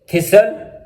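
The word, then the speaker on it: thistle: कैसल, fasten, लिसन, often, थिसल, विसल।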